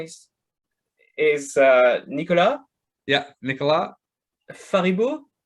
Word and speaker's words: Nicholas: to to guess uh how to say your surname so how do you say you're saying uh nicola yeah it's a french name so and and you